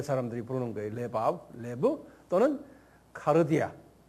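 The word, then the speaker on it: καρδία: 레브 또는 카르디아. 카디아가 아니고 카르디아.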